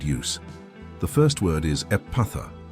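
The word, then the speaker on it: Ephphatha: The first word is epatha. It's pronounced effort, letting the sound flow softly from the lips.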